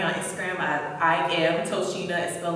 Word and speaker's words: Tochina: the way it's spelled you think it's pronounced as a ch but the c is pronounced as the s my dad wanted to